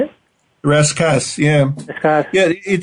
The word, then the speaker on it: rascasse: And then you say the secret is an ugly fish called the rascasse. Is that how you say it? Rascasse, yeah.